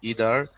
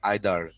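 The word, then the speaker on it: either: ভাইয়া, ইদার কেউ কেউ বলে ইদার, কেউ কেউ বলে আইদার। ইদার ও কারেক্ট, আবার আইদারও কারেক্ট। হ্যাঁ, তুমি যে কোনোটা বলতে পারো।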